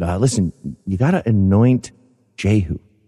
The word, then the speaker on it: Jehu: the story of jehu i actually think it's pronounced jew no no no they're all jehu he's the the king